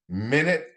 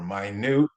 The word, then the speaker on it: minute: men, might, minute or minute. If it's minute, like we're talking about how many minutes in an hour, that's a noun. But minute uh, means something that's very small, and that's an adjective.